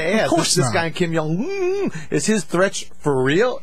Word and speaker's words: Kim Jong-un: Yeah, Kim Jong-un. Kim Jong-un to be provocative.